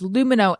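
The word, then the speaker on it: Lumineux: seven dollars off today that's lumino l-u-m-i-n-e-u-x remember it's spelled with an x so you can x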